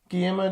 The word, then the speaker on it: Guillermo: You pronounce the L's? Guillermo del Toro?